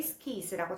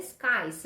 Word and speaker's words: skies: 스 라는 단어만 나오는데 고사장에서 정말 많은 사람들이 스키 있으라고 잘못 발음하는 단어 중에 하나입니다 그래서 오리는 타드 스 카 이 스 라고 발음 했으면 좋겠구요 그리고 또 왜 작성